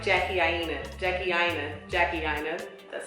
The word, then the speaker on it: Jackie Aina: Jackie Aina.